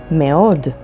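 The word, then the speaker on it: מאוד: Mi, which means who, and spelled with mem and yod. Meod, which means very, and spelled with mem, alef, vav, daled.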